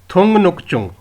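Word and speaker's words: 등록증: को थु नुक चुंग जब इसको हम इकट्ठा प्रोनाउंस करेंगे चुंग को थुंगन के साथ तो ये टेंस फिकेशन रूल के हिसाब से यह जो है यह संग जयत की साउंड देगा यानी कि टन साउंड देगा तो ये ल प्रोनाउंस होगा थु नुक चुंग थु नुक चुंग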